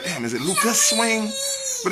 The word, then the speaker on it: Lukas Swing: together yeah i'll be like lucas wayne yeah lucas swing i don't even say the s off to